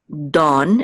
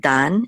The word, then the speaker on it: Dan: yo so um and this is Dawn instead of Dan it's Dawn almost like Dawn right um okay so like the rising of the Dawn or something like that Dawn uh this is so